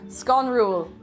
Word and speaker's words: sconrúil: Sconrúil. And does Irish take into account any inflections in speaking? So that the emphasis is on the second syllable.